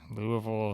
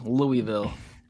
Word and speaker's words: Louisville: pronunciation of Louisville Louisville I rip I rip a hard Louie and then just you gotta roll the L's just attach a Ville on the end Louisville you you got to